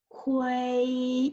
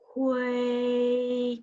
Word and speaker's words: 灰: So now number 4 is 灰, is first tone. 灰 is flat and high tones, okay, which means loss.